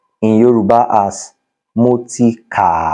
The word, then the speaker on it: kà: Ordinarily, it is pronounced wo. Read, kà or ka.